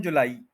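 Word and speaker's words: July: थोड़ा सा ठीक करले य जो एंड पर वा है ना य इसको आई नहीं बोल सकते आप जुलाई यह है जुलाई ए बोलना एंड जुलाई जुलाई स्ट्रेस जो है व ला पर करना है जो प नहीं करना जुला तो लाई नहीं बोलना क्योंकि एंड पर आई साउंड नहीं है आय साउंड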